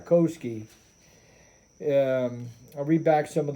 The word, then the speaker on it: Kowsky: Kowsky, may not be pronouncing his name right, but it's K-O-W, Kowsky, S-K-Y, Kowsky.